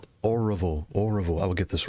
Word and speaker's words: Oroville: Oroville.